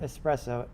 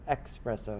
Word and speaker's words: XPresso: cinema 4d scripting language not espresso expresso it starts with an x there's a bunch of